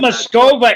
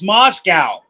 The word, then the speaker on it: Moscow: It's not Moscova, idiot. It's Moscow.